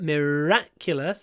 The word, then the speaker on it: miraculous: many miraculous events uh Miracle dist stress is on the I so it's long M but miraculous it's on the a so miraculous the r is longer miraculous miraculous okay and